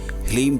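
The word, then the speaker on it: ह्लीं: बगलामुखी का जो बीज मंत्र होता है वह ह्लीम कहा जाता है। ध्यान से एक बार फिर से सुन लें, ह्लीम बीज मंत्र बगलामुखी देवी का होता है।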